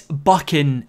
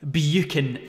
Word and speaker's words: Buchan: It's Buchan. It rhymes with... I'd like to keep my monetization. But it's certainly, and I mean certainly not, Buchan. That sounds horrible. Buchan. It genuinely sounds like somebody's throwing up.